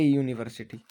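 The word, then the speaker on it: university: कभी कभी शब्द वोवल से शुरू होता है लेकिन आवाज़ कॉन्सोनेंट की होती है। एग्जाम्पल: ए यूनिवर्सिटी।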